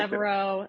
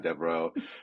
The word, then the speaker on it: Devereux: Okay, Devereaux is the, I guess, very American way. Yes. beautiful. We'll go the American way, Devereux.